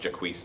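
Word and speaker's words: Jaques: Yes, it's actually pronounced Jacques, not Jacques.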